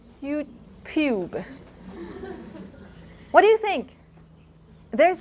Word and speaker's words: YouTube: Why did I say YouTube?